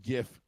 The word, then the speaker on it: GIF: People who think it's it's actually pronounced GIF, you're like, "No, it's GIF. It's GIF." No, it's a GIF. Stands for graphics. The G in GIF stands for graphics.